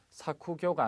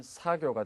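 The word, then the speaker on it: 作業: 자, 여기 작업이라는 단어 발음에 주의를 하셔야 됩니다. 작자는 사쿠로 읽을 수도 있고 사로 발음이 날 수도 있죠. 그런데 작업은 사쿠교가 아닌 사교가 된다는 거 꼭 기억을 하시기 바라겠습니다.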